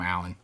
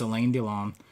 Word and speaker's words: Alain Delon: I always want to call him Alan, but it's Alain Delon.